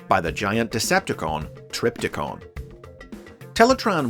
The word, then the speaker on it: Teletraan: within the volcano infamously the computer's name was frequently mispronounced as teletron during this series an error that was humorously addressed on screen in the final episode main thruster is now connected to teletron one it's teletran whatever for a long time